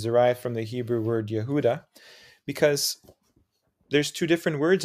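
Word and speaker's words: יהודה: in the Hebrew language to the Arabic word yehud and that is the for the word Judah now if you notice it's pronounced in Hebrew Yehuda it sounds very similar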